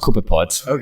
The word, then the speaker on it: copepods: have you heard of coconuts yeah it is pronounced copepods no that's cool these are there's a lot